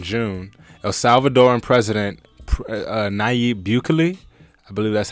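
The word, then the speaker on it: Nayib Bukele: in miami in june el salvador and president naib bukley i believe that's how it's pronounced announced that his country will soon accept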